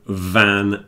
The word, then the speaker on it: van: I don't know and there's also van and ban van v an a a type of transport yeah and B an is a Prohibition like a smoking ban when you're not allowed to smoke in the bars so the difference between the V and the B is important and I recommend that everyone practice that one another pronunciation problem that